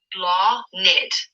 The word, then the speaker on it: Blathnid: Next name is Blonid. And it means blossom and flower. It's pronounced Blonid.